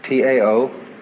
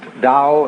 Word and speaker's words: Tao: is all the dow t AO pronounced dow in the mandarin dialects tao in the chung